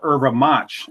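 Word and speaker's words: erva-mate: uh yurba mate from uh Brazil shimaha or irva match as it's pronounced essentially that just means traditional eura mate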